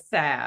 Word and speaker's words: salve: I've Yes, never heard salve. salve can be pronounced with the L sounding, though the most common pronunciation in the US is with a silent L.